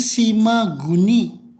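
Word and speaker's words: 島国: nih oh cukup Hai tokoku ini bukan di toko kue tapi dibacanya si maguni Saya cinta goni Shima dan kuning hati-hati salah ya bacanya bukan toko tapi si magoni Sinaga si maguni di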